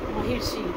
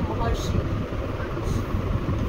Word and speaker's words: महर्षि: और र करें महिषी महिषी र भी मतलब प्रोनाउंसिएशन में र पहले आएगा, शी बाद में आएगा, इसलिए महर्षि।